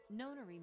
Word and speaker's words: nonary: Weird. I've never heard it pronounced known. I've always heard it pronounced non. That's why I thought it was nonary game.